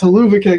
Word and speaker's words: Hova kick: my favorite uh finishers isn't it hell of a kick no it's Hova kick and it's the play on words that's spelled out like hell of a kick and just you say that fast enough times starts to sound like Hua kick I will say the